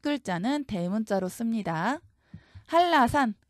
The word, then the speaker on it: 한라산: 첫 글자는 대문자로 씁니다 할라산 먼저 한라산이 명칭을 그대로 옮겨 줍니다 이때 발음 그대로 옮겨야 돼요 한라산 유마 일어나서 L이 왔죠 옮긴 다음에이 산이 의미하는